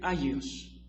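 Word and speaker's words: ἅγιος: Y se escribe agios, alfa, gamma, iota, omicron, sigma, para los que llevaron griego.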